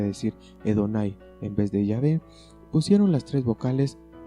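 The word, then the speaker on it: Yahvé: es decir que la pronunciación jehova es una pronunciación defectuosa el nombre de llave en los años 1600 comenzaron a traducir la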